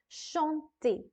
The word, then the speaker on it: chanter: Please remember that each and every er ending verb will be pronounced as a in the end. The sound will come out as a in the end. So that is true for all of the verbs of this category.